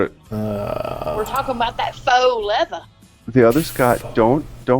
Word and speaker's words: faux: How does that spell faux? Well, maybe it's pronounced fox.